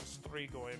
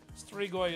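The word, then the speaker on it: strigoi: Like um Count Dracula is very much based on a mixture of real world Vlad the Impaler and the Romanian Stregoy myth. Threegoy is spelled s t r i g o i.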